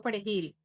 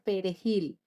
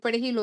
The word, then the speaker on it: perejil: eran dominicanos era diciéndoles que pronunciaran la palabra perejil, que es una palabra muy difícil. difícil para eh no para quien no es hispano pararlante eh al no al no decir perejilo, decirlo con acento creol asesinaba.